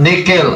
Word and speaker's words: nihil: gina og nihil obstat, nickel. Ang nihil basahon nato diha sa Bible nihil, pero sa pagbasa ana Latin man na siya, pagbasa ana nickel na ang pronunciation ana.